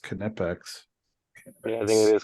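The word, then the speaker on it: Knipex: guess it's stainless steel Steve says it's actually pronounced canipex yeah I think it is all right there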